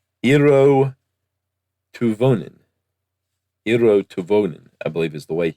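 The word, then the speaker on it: Eero Tuovinen: Eero Tuvonen, I believe, is the way he said it himself on some very old podcast I found.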